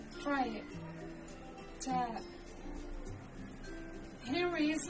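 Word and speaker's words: تاء: The pronunciation is like the English T, except you should release your breath with a strong burst of air. Try it. Ta.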